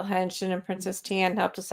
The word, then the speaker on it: Henshin: Works hard wanted to know how to spell henshin, and Princess Tian helped us out with that. For those who are listening, it is Henshin.